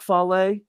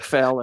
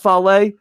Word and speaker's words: Fale: Bad Luck Fale, and I used to call, do you notice I pronounce his name right? That's respect. Not Bad Luck Fail anymore. Bad Luck Fale, I respect you so much that you're not everyone's chair.